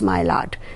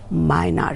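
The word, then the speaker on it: Maillard: a r d reaction but mylard is not pronounced as mylard you have to remember it is pronounced as minor reaction and this interaction that is between the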